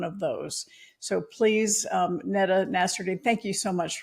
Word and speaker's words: Nada: Thank you so much Sharon and I'm so impressed by the pronunciation of my name. I do this a lot and I often get like nada so I appreciate it.